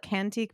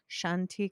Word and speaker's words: Cantiq: And I want to call it Cantique, but I think it's like Shanti. like I think it has like a fancier pronunciation, but yeah, we will link